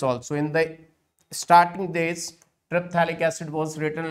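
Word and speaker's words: terephthalic: And now, when they are 1,4 to each other, we will say triphthalic. Triphthalic. Once again, P is silent.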